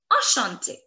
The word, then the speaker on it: enchanté: However, the pronunciation in both the cases is going to be the same.